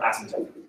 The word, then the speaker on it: asymptote: future which as it turns out is our asymptotes by the way the word asymptote the penis silent asymptotes that's a whole lot more cool